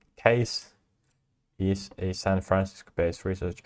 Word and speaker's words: CAIS: Center for AI Safety, CAIS, pronounced CASE, is a San Francisco-based research and field-building non-profit.